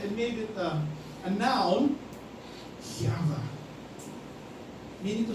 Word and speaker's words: Yahweh: Essentially, how do you pronounce that? It's like a breath.